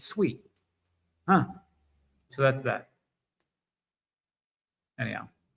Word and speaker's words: Sui: foundation pronounces it is not sooie like you're calling a pig. It's sweet, huh?